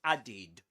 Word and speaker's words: added: the verb add and this is not pronounced as added or add something like that. This is added added.